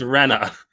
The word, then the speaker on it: Rena: bad wait was it Reena or Rena it's Rena like Ren this is her her